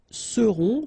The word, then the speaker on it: seront: Ils seront, final T not pronounced, and then you've got this nasal, on, seront, elles seront.